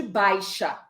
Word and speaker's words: baixa: o em separado de baixa, porque agora o sentido muda. Em baixa temporada, eu também tenho o vocábulo baixa, onde a tônica também é a sílaba bai.